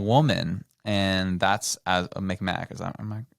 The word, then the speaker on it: Mi'kmaq: and that's as a Mi'kmaq. Am I pronouncing that correct? I know there's two. So they spelled it, I think, improperly. They shouldn't. It's McMaw. Though. Okay, McMaw. Okay.